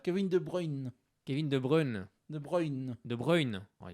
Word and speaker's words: De Bruyne: Kevin De Bruyne. Kevin De Bruyne. De Bruyne. De Bruyne. Oh, il le fait bien, hein. Il fait bien l'accent belge, hein.